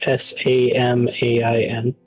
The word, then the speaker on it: Samhain: the word for Halloween is Samhain, but it's pronounced Samain.